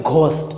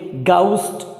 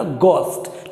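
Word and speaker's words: ghost: एच ओ एस T, mostly लोग इसे pronounce करते हैं घोस्ट, जबकि इंग्लिश में ग होता ही नहीं है। अंग्रेज लोग इसे प्रोनाउंस करेंगे गाउस्ट या गोस्ट, लेकिन घोस्ट नहीं करेंगे गाउस्ट।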